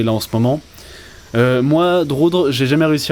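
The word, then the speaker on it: Drudkh: Et en fait, Drutk, qui se prononce Droudre, en fait, paraît-il, malheureusement, c'est l'arbre qui cache la forêt de son boulot.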